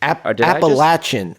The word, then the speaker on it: Appalachian: where you wanted to go Appalachian application State appalachin appalachin Nick you got it you got it